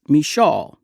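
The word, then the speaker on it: Micheaux: between black filmmakers like Oscar Misho, sometimes pronounced Mishaw, and Noble Johnson in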